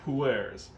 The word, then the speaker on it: pu'er: This time around, I'm going to do pu'ers. Pu'er is the more authentic pronunciation.